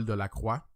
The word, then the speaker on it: Delacroix: That's a French name, but I try to pronounce it like English-wise, like, you know what I mean? Like, because I'm a French guy, in French it's Delacroix.